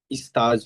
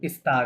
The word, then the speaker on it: stage: স্তাজ, Stage হবে, স্তাজ, not stage.